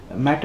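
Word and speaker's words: mettā: oneself and all others mata see the word is used matter people call it as matter i think it is meetha what we use in hindi mata is the correct way of pronunciation i would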